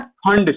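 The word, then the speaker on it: Pfund: Okay, now last series है इसमें, ये ब्रैकेट के बाद में है फंड series. Okay, P silent होता है, मैं इसको पी साइलेंट करके बोलता हूँ और ऑलमोस्ट सारे लोग ऐसे ही बोलते हैं।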